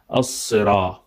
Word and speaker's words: الصراط: So ihdina is with normal H, ha, ihdina, but then sad, sirat is not with sin or S. It has to be as-sira with sad. Sad is different from sin. Sin is like S, but sad is a little bit heavier, recited with full mouth.